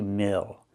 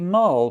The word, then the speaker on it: mill: This is a coffee mill. Not a coffee mole, but a coffee mill.